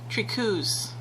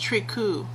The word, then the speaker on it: Tricou: we are in Sims 2 resurrecting the tros trius sorry um I actually found um how they're supposed to be pronounced from a website called Behind Blue Lake